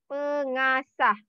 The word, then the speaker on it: pengasah: Okay, you have to know the pronunciation is pengasah.